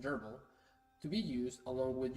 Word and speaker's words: grbl: this video I'll be covering grbl pronounced Geral to be used along